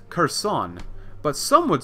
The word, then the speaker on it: Kherson: Like, this says Kherson, but some would say, especially in Ukrainian, it'd be Kherson. Kherson, not Kherson, but Kherson.